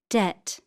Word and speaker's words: debt: Debt.